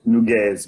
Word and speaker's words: Nugues: Yeah, it's named Nugues, but I forgive you, it's quite difficult to pronounce.